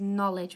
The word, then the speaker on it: knowledge: would say no but this is knowledge which just sounds like nut or ledge spaghetti has a silent H